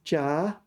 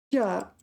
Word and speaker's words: 炸: Sometimes you pronounce it fourth tone, and sometimes it's pronounced fourth tone kind of incorrectly, if you know what I mean. Incorrectly in the sense that the dictionary says it's like second tone, but sometimes people say fourth tone.